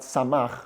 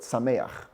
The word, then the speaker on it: שמח: If you go to any other wedding outside of Chabad, the pronunciation of the first word is not Samach, but Sameach. Sameach to Samach, Re'im ha'ahuvim.